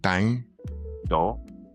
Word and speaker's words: Thang Do: So I don't want to mispronounce is it Q Thang Do? Is Q Thang Do? Thang Do? Do.